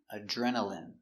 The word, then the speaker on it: adrenaline: adrenaline Remember, i n e here is pronounced in, adrenaline.